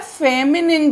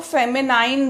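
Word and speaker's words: feminine: इसके बाद आता है फेमिनिन जेंडर। यहाँ पर भी देखिए NINE लिखा है, तो आपको लगेगा इसको फेमिनाइन बोलें क्योंकि 9 है, लेकिन ऐसा नहीं है। इसको हम कैसे प्रोनाउंस करेंगे? फेमिनिन जेंडर, यानी स्त्रीलिंग।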